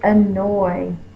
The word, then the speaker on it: annoy: The next word is annoy. My brother annoys me. Annoy. Oy. Is spelled with an A, like about and around. It's that schwa.